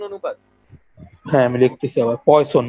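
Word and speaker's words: Poisson: হ্যাঁ, আমি লিখতেছি আবার, পয়সন মানে যে বিষ আছে না, বিষ, হ্যাঁ হ্যাঁ, যদি এটা উচ্চারণ পয়জন, বাট এই সায়েন্টিস্টের নাম পয়সন। আচ্ছা।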